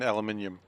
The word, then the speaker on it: aluminium: of these mines has at least, like, 14 million aluminium.